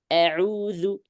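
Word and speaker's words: أعوذ: Maka di sini saya contohkan a'udzu. Maka jangan demikian. Tapi bacanya gimana? Fathah biasa.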